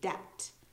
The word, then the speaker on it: debt: Sounds like D-E-T, actually, debt. But there's a silent B.